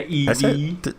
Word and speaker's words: Eevee: I think that name is pronounced Eevee. Yeah, Eevee. Didn't I say Eevee? You said No, Eve.